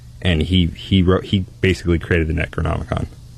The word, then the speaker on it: Necronomicon: It pronounced necronomic in Anthony You're necronomicon. Not Necromanican!